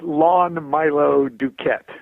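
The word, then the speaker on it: Lon Milo DuQuette: right well I like to hear it said lawn Milo Duquette you can't yeah okay lawn Milo dude Clarence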